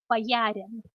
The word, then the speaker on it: боярин: And the last alternative, which is also an SCA heraldic title, боярин. Боярин.